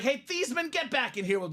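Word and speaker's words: Theismann: and said Hey Joe we know your family name is thasan we know you've been thieman all your life let's change the pronunciation of your name to thyman so we can say thyman for the Heisman Joe of course being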